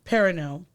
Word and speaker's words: Perrineau: Perrineau.